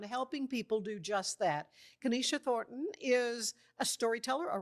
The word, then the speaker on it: Kennisha: Kenisha.